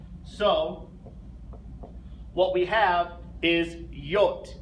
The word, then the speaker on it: J: what we have is y the letter J is pronounced y the letter k a